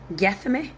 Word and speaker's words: Gethsemane: Get Yeah, guess Gethsemane. I don't even know if I'm pronouncing it. g e t h s e m a n e Gethsemane. That's how I'd say that.